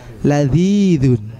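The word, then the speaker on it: لذيذ: bawah Kemuning kita dorong Zal Zal ladziidzun ya Jadi bukan menggunakan z eh bukan zedd-happy Zal lidah kita di antara Gigi atas dan bawah kita dong traill lebihin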